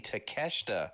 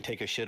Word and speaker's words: Takeshita: And then it dawned on her she's like, "Oh, you mean Takeshita." He goes, "Is that's how that's pronounced?" She goes, "Yes." Yeah, cuz it really does look Well, we we joke. We call him take a shita all the time.